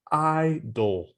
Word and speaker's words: idol: Idol. Idol. Do you know the TV show American Idol? American Idol. Yeah. It's the same pronunciation.